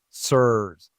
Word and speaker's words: CIRS: CRS is short for chronic inflammatory response syndrome and it's pronounced SERS.